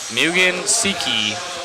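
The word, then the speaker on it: Mugen Seiki: so I can learn mugan Seiki is the way that I was learned to pronounce it thank you Matt I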